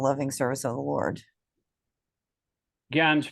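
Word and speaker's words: jñāna: Gyan's pronounced actually, Yeah. it's just like a G, Gyan. Jnana, Like Yawn.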